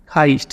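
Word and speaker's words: heist: हाईस्ट इसको हाईस्ट pronounce करेंगे।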